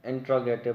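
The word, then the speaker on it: interrogative: बहुत से स्टूडेंट्स इसको गलती से इंट्रोगेटिव पढ़ लेते हैं, स्कूल्स में भी हमें ज़्यादातर यही पढ़ाया गया है। तो इसका असल जो है इसकी प्रोनाउंसिएशन है इंटेरोगेटिव, क्योंकि ये खुद एक वर्ड से निकला है, एक वर्ब से निकला है, वर्ब जो कि है इंटेरोगेट, मतलब पूछ गछ करना, किसी से पूछना कुछ।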